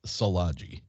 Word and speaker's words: Szilagyi: i didn't dare it's it's easier than it it looks it's uh salaji so blodgy eric's